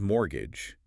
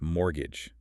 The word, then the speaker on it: mortgage: The word is mortgage, but you don't pronounce the T. It's mortgage.